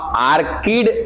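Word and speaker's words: orchid: ऑर्चिड और ऑर्चिड के साथ भृंग, हाँ आर्किड हिंदी में लिखते हैं, इंग्लिश में ऑर्चिड पढ़ते हैं उसको, हिंदी में लिख लो आर्किड, आर्किड भी पढ़ते हैं बाबू उसको, ऑर्चिड भी पढ़ते हैं। जब इंग्लिश का प्रोनाउंसिएशन होगा तो ऑर्चिड कहते हैं, हिंदी में आर्किड कहते हैं।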